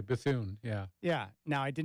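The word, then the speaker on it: Bethune: mispronounce my last name how would you pronounce that said it's bethon right that's what I would say bathoon yeah yeah now I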